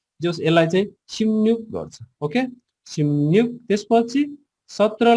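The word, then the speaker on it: 십육: यो वास्तवमा यसको यो सही तरिकाले गर्ने हो भने चाहिँ सिम्युक गर्छ के कोरियनहरुले, सिब्युकलाई चाहिँ सिब्युक नगरिकन सिम्युक गर्छ है।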